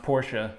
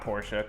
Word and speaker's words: Porsche: Come on, I'm just kidding, I know it's pronounced Porsche. I know it's not Porsche, come on.